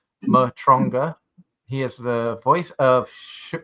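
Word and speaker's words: Matranga: Last name pronounced Matonga."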